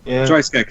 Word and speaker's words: Stryjek: Stryjek, thank you. My pronunciation's awful, but well, I mean, I think